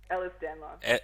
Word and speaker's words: Ehlers-Danlos: sorry, how'd you pronounce it again? Ehlers-Danlos.